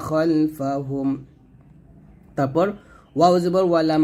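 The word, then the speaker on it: خَلْفَهُمْ: দেখুন এখানে বাংলা উচ্চারণটা খালফাহুম আছে যদিও, তবে খাল না বলে খল বলতে হবে, খলফাহুম, এটাই আরবি।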